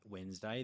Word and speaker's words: Wednesday: There's another example, Wednesday having that D from the Germanic god Woden. So as well as arm tapping, we can and pronouncing Wednesday, we can also, if we can think about Woden's Day, that helps us with that D.